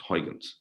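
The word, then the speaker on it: Huygens: So let's start the Hyuns algorithm discussion. This is stuff we did. The Dutch, actually, the proper way to say it, I've been told several times, is Hyuns.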